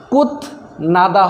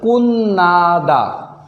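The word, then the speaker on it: 끝나다: করা কুন্নাদা শেষ করা ত বা ছেমের পরে নিউন আসলে তাহলে তর উচ্চারণ নরম হবে কুন্নাদা কুত নাদা হবে না ভাই সঠিক উচ্চারণ হবে কুন্নাদা শেষ করা একটা বিষয় আপনারা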